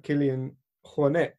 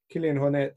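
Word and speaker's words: Kilian Jornet: kind of intensive obsessive background there's people like Killian Hornet is how I've since realized it's supposed to be pronounced Killian Hornet who is uh you quite easygoing with it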